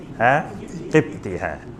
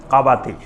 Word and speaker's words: কাবাতি: মারল আরেক আরেকটা লোক কিপতি মানে ওটার নাম ছিল কাবাতি ওটাকে এমনে কিপতি বলা হয় কিন্তু মূল উচ্চারণ হল কাবাতি এক গ্রুপ হল বানি